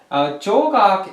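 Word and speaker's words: 조각: Jogak is the same thing as Sao Jiao. Sao Jiao is the Chinese pronunciation, and Jogak is the Korean.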